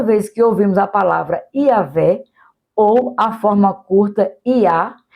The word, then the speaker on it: Yahvé: Na Bíblia, em português, mas no hebraico seria pronunciado algo como Yahvé, e é construído sobre a palavra que significa eu sou. Assim, toda vez que ouvimos a palavra Yahvé, ou a forma curta